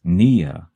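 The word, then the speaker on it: -pnea: it's hyphen p-n-e-a hyphen p-n-e-a is pronounced nia the p is silent and it means breathing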